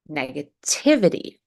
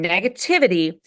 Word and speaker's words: negativity: a true T, but the T in the suffix ity, ity, is a light D.